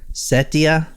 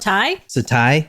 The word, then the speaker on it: Setai: Setia Hotel. I saw the word right here. It says Setia. What do you say that? Setai?